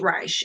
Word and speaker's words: Reisch: I'm also going to put the link of the author in the, it's R-I, is it C-H-S, right? Or S-C-H, Reisch. Okay, so that's how you say his name.